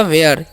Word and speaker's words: where: हुआ है, WHERE, तो WH का उच्चारण क्या करना है, व, ठीक है, और H का उच्चारण करना है ह, और ई का एकले, और ERE है तो यह, तो हो गया वेयर।